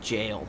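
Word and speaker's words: gaol: still don't know that this word right here is pronounced jail this right here is just the medieval version of spelling out the word jail this is why I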